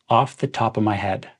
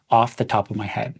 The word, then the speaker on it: off the top of my head: my head it's pronounced off the top of my head so my and head are kind of combined into one word off the top of my head someone could ask how